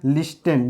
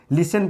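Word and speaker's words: listen: बोलते हैं ठीक है लिस्टन लिखा जाता है लिस्टन लेकिन पढ़ते हैं लिसन ठीक है उसमें क्या होता है ये साइलेंट होता है ठीक है ठीक है टी साइलेंट हो जाता है तो ये भी क्या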